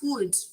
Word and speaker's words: would: Would. Nessa palavra, nós não vamos pronunciar a letrinha L, ok?